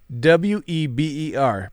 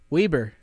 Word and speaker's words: Weber: all right where is where i grew up w-e-b-e-r pronounce it weber exactly that's weber yeah i know and i